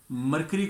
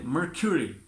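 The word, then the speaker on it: mercury: मरकरी को हम बोलेंगे मर्क्यूरी।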